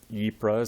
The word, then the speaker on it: Ypres: So this Ypres is how you pronounce that. It's kind of a weird pronunciation for English speakers, but yeah.